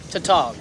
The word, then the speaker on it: tautog: Tautog? I said it right? Yep, Tautog.